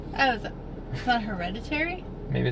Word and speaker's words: Hereditary: So we just got out of the movie Heredity. Not an easy one to pronounce. Oh, is that Hereditary?